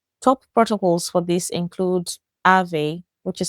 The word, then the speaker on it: Aave: Top protocols for this include Aave, which is spelled A A V E, and the Flare protocol or the Flare network.